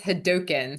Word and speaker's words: Hadouken: Is it Hadouken, Hadouken, It is Hadouken, so doe like a deer. a doe like a deer, Hadouken.